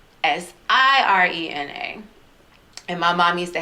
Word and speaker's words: Sirena: it and i said s-i-r-e-n-a and my mom used to hate it when people would call me serena y'all name is siren and like sirena that's it's not serena it's i'm like